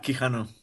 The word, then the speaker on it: Quijano: Is that how you pronounce it? Yeah, Quijano.